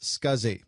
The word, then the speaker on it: SCSI: able to use it the abbreviation SCSI is pronounced scuzzy and this stands for